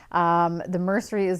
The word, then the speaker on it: Mercerie: The Mercerie is the right way to pronounce the name that I totally butchered in the last podcast.